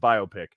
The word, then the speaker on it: biopic: Is it pronounced biopic or biopic? It's pronounced biopic.